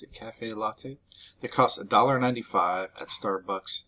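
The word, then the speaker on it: caffè latte: a tall cafe cafe latte is how you pronounce it cafe latte they cost 1.95 at starbucks six weeks six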